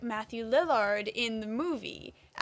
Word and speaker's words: Lillard: I have to say I was so excited that Matthew Lineard, how do you say it? Lillard. Lillard.